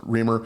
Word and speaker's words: Riemer: Remr I I think it's I think it's I've heard it mostly pronounced Reamer.